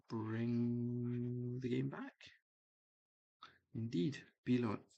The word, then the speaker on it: Billund: Indeed, Billund is the airport. The D is silent, in case you were wondering.